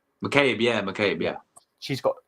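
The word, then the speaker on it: McCabe: you say her name Katy m is it mcabe mcab yeah mcab yeah she's got some good assists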